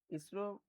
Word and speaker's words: ISRO: ISRO is also pronounced as a word ISRO not.